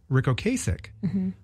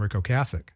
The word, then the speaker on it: Ric Ocasek: tribute to him but he kept calling him RI oich but then I of course I go on YouTube to figure out how to say his name and in this little video clip he says hi I'm Rico cassic hi I'm Rico cassic